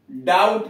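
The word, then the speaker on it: doubt: में, DEBT हो गया, लेकिन उच्चारण डेट ही रह गया। और वही बात डाउट का DUBT लिखा गया, रिसिप्ट का RECEIPT। मौलिक शब्द लैटिन का क्या रहा, मौलिक शब्द लैटिन का डेबिटम था और रिसिप्टम था। अब उससे बाद में जब मूल शब्द देखा गया, इसका भी डाउट में जोड़ दिया गया और इसका भी रिसिप्ट में जोड़ दिया गया, लेकिन उच्चारण पहले वाला ही छोड़ दिया गया।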